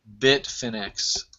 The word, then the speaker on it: Bitfinex: one-hour chart of the biff and x if i'm even pronouncing it right yeah yeah you got it bitfinex um and you know